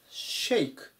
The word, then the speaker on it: shake: と思います一番シェイクシェイク発音に注意ですね最初の部分で者っていうふうに読まないように気をつけましょうほにゃららを振るうと